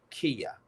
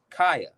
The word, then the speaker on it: Kaya: Her name is uh, Kia. Did I say it right? Kaya, Kia. It's Kia. I think it's Kia, Kaya. No. I'm sorry. My mistake. Kaya.